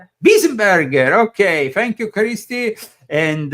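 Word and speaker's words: Weisenburger: That was, do you pronounce it like that? No. Weisenbauer? Burger? Wiesenberger.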